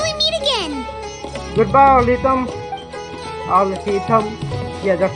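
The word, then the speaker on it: Alhaitham: Al-Haytham.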